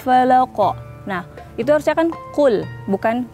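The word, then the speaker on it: قُلْ: Tapi kalau orang Indonesia misalnya bacanya itu kul. Nah, itu kan kaf tuh, kul. Itu kan kalau dalam bahasa Arab kul itu berarti makanlah.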